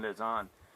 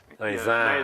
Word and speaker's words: Lausanne: Without the N is nasal. Lausanne.